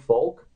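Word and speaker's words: Volk: it with a spell with a v but it's pronounced folk right and he had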